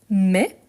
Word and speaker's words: mets: Le verbe mettre, je mets ici avec ts à la fin qu'on ne prononce pas.